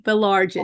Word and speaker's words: Baillargeon: Baillargeon.